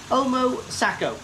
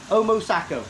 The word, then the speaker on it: Omosako: farm it comes from in japan is um omo sako omo sako that's how you pronounce it sorry so it's from the omo